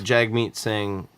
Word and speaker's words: Jagmeet Singh: I know that Jagmeet Singh won. Yeah. I don't know that that's how you pronounce his name.